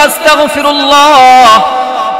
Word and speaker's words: আস্তাগফিরুল্লাহ: হইছে আল্লাহ আপনি আমাকে কাফের বানাইয়া দেন সঠিক উচ্চারণ হবে আস্তাগফিরুল্লাহ নিজে সঠিক ভাবে পড়বেন পরিবারের ছেলে সন্তান মা-বাবা